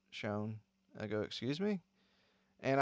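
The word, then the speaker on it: Chão: Anyway, so, and then I'd mentioned Fogo de Chao, and he was like, it's pronounced Shone.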